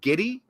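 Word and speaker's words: Giddey: basketball player name yeah what was it Josh giddy that's how you pronounce his name yeah it's g d g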